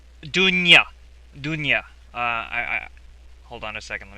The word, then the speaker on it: Dounia: This French journalist, and I'm going to try really hard not to botch her name, Dunya. Hold on a second. Let me try again. Dunya. Okay. That's spelled, by the way, Dounia.